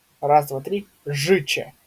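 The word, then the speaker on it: życie: Жиче, да, то есть тут у нас И, тут у нас Че. Жиче.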